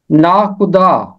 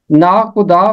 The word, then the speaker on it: ناخدا: کی 27ویں آیت میں اور 29ویں آیت میں، ناخدا۔ یہ ایک دلچسپ لفظ ہے۔ ناخدا فارسی زبان کا لفظ ہے اور اس کا